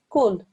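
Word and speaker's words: كُلْ: This you should pronounce as kul, kul.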